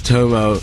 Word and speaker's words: Tomo: and he goes, "Yeah, my name is Tomo. It rhymes with homo, so it's easy to remember."